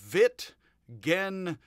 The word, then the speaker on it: Wittgenstein: So, with all of that, Wittgenstein is how it is supposedly pronounced, with a j, a little bit of a z, j, st, Wittgenstein is how I